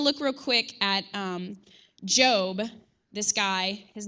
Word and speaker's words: Gob: character on the show his name is job but it's actually spelled g o b like Gob but yeah anyway if